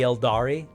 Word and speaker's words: Eldar: The Eldari. Eldari, yeah. The I is silent. It's pronounced Eldar, but it's spelled trademarkably.